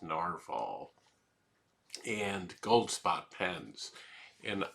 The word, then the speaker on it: Nahvalur: changed the spelling of their name um to narvallur is what it looks like but it's still supposed to be pronounced narval and gold spot pens and I I started